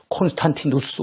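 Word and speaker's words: Constantinus: 영어식 발음은 콘스탄틴인데 라틴식 발음한다고 어떻게 되겠습니까? 콘스탄티누스 황제 이렇게 볼 수 있어요.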